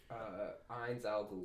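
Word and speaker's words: Ainz Ooal Gown: The main character, Skeleton Man, Azan Gal. Ainz Al Ghul.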